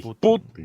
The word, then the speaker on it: Putin: Porque la sílaba tónica está en la U, no en la I. Putin.